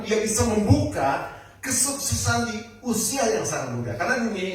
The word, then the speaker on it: Uzia: Bacanya UIA karena nanti ee sama dengan usia. Tapi ini nama orang Uia pakai Z. Usia ya.